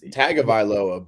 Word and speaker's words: Tagovailoa: Well, it's like Tua, like they pronounce Tagovailoa. It's Tagovailoa, but there's an N, I guess.